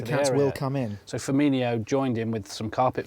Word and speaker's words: Firmino: Trust me, it's Firmino.